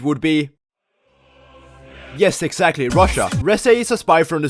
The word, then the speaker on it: Reze: It's actually pronounced Reze. Okay. Yeah. Stay right there so I can beat your ass. But what did I do? Reze is a very interesting character who is a little bit of everything.